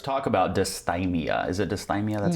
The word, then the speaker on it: dysthymia: Is it dysthymia?